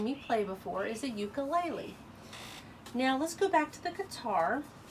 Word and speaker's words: ukulele: I've heard some people pronounce it ukulele, but I think it's more often pronounced ukulele.